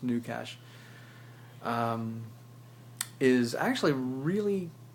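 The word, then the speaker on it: GnuCash: G and new cash I think it's pronounced new cash um is actually a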